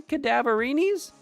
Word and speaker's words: Cadaverini: Well, it's a play on the word cadaver, which is a dead body.